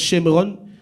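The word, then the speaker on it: שומרון: Et Samarie, qui en hébreu se prononce Shemron, vient en réalité de Shemer, qui était le seigneur de cette montagne.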